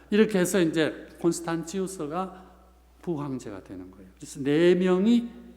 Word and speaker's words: 콘스탄티우스: 가톨릭 이렇게 하듯이 이제 표준어로 콘스탄티우스 이렇게 해놨어요. 그러나 라틴식 발음을 하면 콘스탄시우스가 맞습니다.